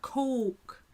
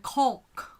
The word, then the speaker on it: Coke: she said that um koreans also have an oh so i don't know why many of them pronounce it with this all kind of sound um there's like cola cola it has that oh so why not coke why caulk i don't know um but that's not just her a lot of a lot of the koreans pronounce it that way so she is teaching